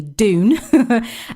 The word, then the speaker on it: Dune: So June, I say June, but it's spelled with a D, Dune, and The Batman have been delayed due to COVID-19, which is mahoosively frustrating.